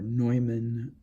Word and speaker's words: Neumann: to say something about the Alfred Neumann or Neumann, as I prefer to pronounce it, living theater experience.